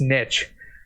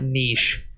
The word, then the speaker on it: niche: the face replace that it's definitely pronounced niche it's not niche otherwise it would be spelled with two E's all right you I'm